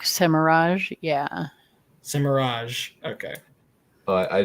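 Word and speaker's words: Semirhage: I believe it's a soft G, just so you know. Semira? Cimarog. No, J. Like more Cimarog. like Semirage, yeah.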